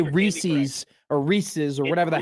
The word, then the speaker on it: Reese's: It's Reese's, not Reese's. Okay, let's let's try to make sure we get this correct.